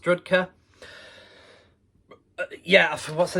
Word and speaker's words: Drudkh: Ukrainian black metal Giants uh drudger is that all right it's pronounced rudka yeah what's the name